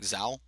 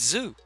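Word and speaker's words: Zhou: Say it like Zao. Zao? But it's Zoo.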